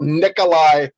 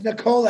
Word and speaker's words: Nikola: caught you're talking about nikolai tesla no it's nicola actually if you pronounce it correctly okay i beg the